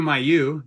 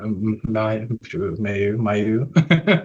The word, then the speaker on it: Mailloux: I am with Drew Mayu is that how you pronounce your last name Drew uh oh boy I think the actual French pronunciation is like uh yeah May Mayu am I saying it